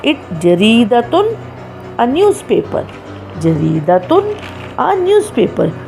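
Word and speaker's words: جريدةٌ: and we pronounce it jaridatun, a newspaper. Jaridatun, a newspaper. When we put the sign of tanween over ta marbuta, it changes the sound of the word and we say jaridatun.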